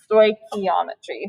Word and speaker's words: stoichiometry: it's a weird one phonetically it looks like it would be like stoich stoichiometry or something um but it's kind of like this is a k yeah stoichiometry stoichiometry um it's the